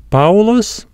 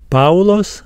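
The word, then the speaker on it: Παῦλος: next dong is a it sounds similar to the word Mouse ow Mouse the Greek example is the word paos paos meaning Paul and the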